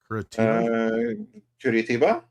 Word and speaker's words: Curitiba: Curitiba. Okay. Brazil. If you hear Pee Wee laughing, probably. I don't know. That's exactly how you say it because it's Portuguese.